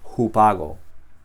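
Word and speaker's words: ὑπάγω: la vocal mayúscula y la pronunciación es la misma, jupago.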